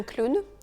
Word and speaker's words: clown: Un clown, un clown. Le O et le W forment le son OU dans ce mot spécifiquement.